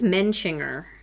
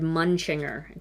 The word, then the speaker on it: Mencinger: said, "My name is Mencinger." I always said Munchinger. She's like, "That is not how you say my name."